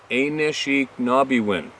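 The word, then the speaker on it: Anishinaabemowin: elders and translating Ashinabemowan, and it was pronounced Anishinaabewin.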